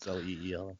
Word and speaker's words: Lila: It's spelled Lila, and that's why they had to tell me sorry. the pronunciation is Leela.